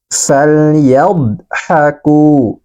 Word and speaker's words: فليضحكوا: Maka cara membacanya adalah fal. Falyadhaku.